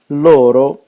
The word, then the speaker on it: loro: The stress in loro is always retracted by one syllable.